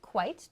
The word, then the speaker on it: quite: so here i've used quite to modify profitable this means very quite means vary be careful it is not quiet or quit but quite quite profitable so this means